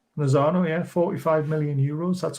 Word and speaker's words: Lozano: Is that how you pronounce it? The right winger? Yeah. Lozano. Yeah. Lozano, yeah.